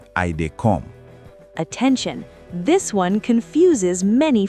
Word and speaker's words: I dey come: Pronunciation: I dey come. 3 words flowing together.